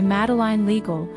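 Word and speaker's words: Madeleine L'Engle: "A Wrinkle in Time" by Madeline Legal, she reads, looking up at Silo as she carefully pronounces the author's name.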